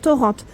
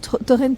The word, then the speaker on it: Torrente: que c'était Torrente voilà on prononce Torrente parce que moi j'ai toujours dit torent jusqu'à présent vous avez